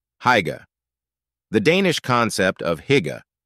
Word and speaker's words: hygge: The Danish concept of hygge, pronounced hygge, refers to a cozy, comfortable, and convivial atmosphere that promotes well-being.